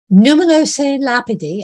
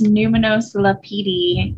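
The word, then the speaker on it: Numinous Lapidi: collection but thanks thanks it's numenos lapidi which is italian um so it's in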